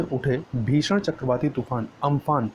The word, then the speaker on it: Amphan: हमारा पहला टॉपिक होगा वो है चक्रवाती तूफान अम्फान से उड़ीसा व पश्चिम बंगाल में जो भारी